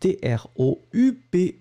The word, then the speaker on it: troupe: You write it T-R-O-U-P-E. Remember that you don't really pronounce the E, the final E that's strong, so troupe.